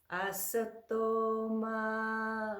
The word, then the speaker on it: Asatoma: Asatoma. Now the sound, we put the teeth, or excuse me, the tongue right behind our front teeth.